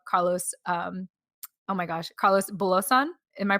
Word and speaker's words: Carlos Bulosan: the story about carlos um oh my gosh carlos belosan am i pronouncing right okay cool cool carlos bulosan all right and i vaguely vaguely remember because